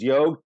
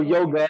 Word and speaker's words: yoga: yog please forgive me I say yog because the true Sanskrit pronunciation is yog that's what I'm used to so yoga is like a British acation of it so excuse I'm not